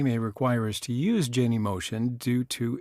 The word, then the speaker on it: Genymotion: Now, there are some competing pronunciations out there, Genymotion, whatever. I just say Genymotion, and you can say it the way that you want.